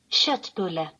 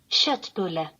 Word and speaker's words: köttbulle: Köttbulle. Okay, did you catch that? Köttbulle. Köttbulle. Köttbulle. Shitbulla. Now, that's spelled K-O with 2 dots, T-T-B-U-L-L-E.